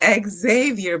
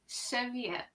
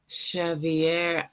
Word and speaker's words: Xavier: Here in America, we pronounce it Xavier, but you say Xavier. Xavier.